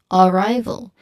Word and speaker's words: arrival: Now the common mistake is stressing the first syllable like arrival. Arrival which changed the emphasis in sounds incorrect in English. So there's incorrect syllable stress here. Again as I've mentioned earlier the the syllable stress is on the second syllable. So arrival it's on the right not on a again.